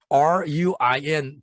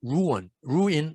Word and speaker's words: ruin: 여기서 R-U-I-N 발음을 ruin 안 하지 않고 ruin 이렇게 발음합니다.